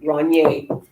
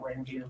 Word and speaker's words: Ranvier: It's not Dumas. It's not French. But if you listen to this, it is French because of the French doctor. So Rognier, or if you want to remember how to spell it, just call it Ranvier, whatever makes you happy.